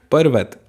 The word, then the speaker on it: पर्वत: बाद में यह है आर पहले बोलेंगे जब आर की रेप ऊपर लगती है ना तो आर का उच्चारण हम पहले करते हैं पर्वत बोलिए पर्वत फिर है द्रव जब